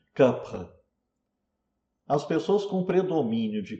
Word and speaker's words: Kapha: E Kapha, atenção, Kapha não é pronunciado Kapha, como se pronuncia em geral no Brasil, está errado falar Kapha, né? É Kapha, né?